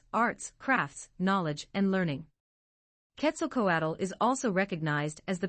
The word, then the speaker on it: Quetzalcoatl: Quetzalcoatl, pronounced /Quetzalcoatl/, is a deity in Aztec culture and literature, known as the feathered serpent in Nahuatl.